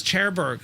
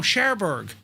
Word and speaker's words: Cherbourg: Did you just pronounce Cherbourg as Cherbourg? No, Cherbourg. Cherbourg. One of me. Borg.